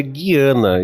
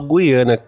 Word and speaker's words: Guiana: verdade na verdade assim as duas pronúncias estão cortes eu falava antes de Guiana mas lá as pessoas que viajam para lá então tudo não falava Guiana E aí eu acho que as duas formas são aceitas para ser sincero